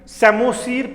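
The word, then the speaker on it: psammosere: तो जब सैंड होगा यूज एज an habitat, सेमोसीर, P silent रहेगा।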